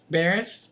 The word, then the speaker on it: Buress: about Mr Hannibal buris how do you pronounce his last name Baris Baris that's how I always said it okay uh I love